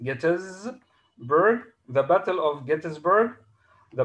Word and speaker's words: Gettysburg: battle of gettysburg this is how it is pronounced gettysburg the battle of gettysburg the battle about which